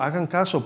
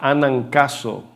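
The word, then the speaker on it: ἀναγκάζω: Casi se escucha que hagan caso, ¿verdad? Cuando la leó como hagan caso, por favor. Pero es la palabra griega anancaso.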